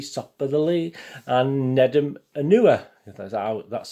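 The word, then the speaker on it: Nedum Onuoha: julian lescott's t stop by the lee and nedim anua that's how you pronounce it neder my apology visit isn't but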